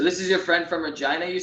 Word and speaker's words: Regina: I think Ryan Reynolds says, and it's funny that guy's a board gamer because Regina rhymes with fun.